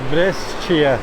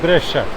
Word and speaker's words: Brescia: one person that this is pronounced brescia not breast Chia but just Bresha do I have